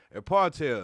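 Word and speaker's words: apartheid: quick okay a partel yeah that's how you pronounce it a partel 1948 to 1994 and South Africa was a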